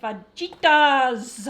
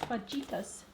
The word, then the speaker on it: fajitas: And for dinner, I am making fajitas. Oh, I love fajita. No, you said it wrong. It's fajitas. Okay.